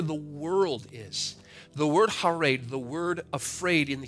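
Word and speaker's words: חרד: it is the word, it's pronounced harad, harad. It is C-H-A-R-E-D. It is pronounced harad.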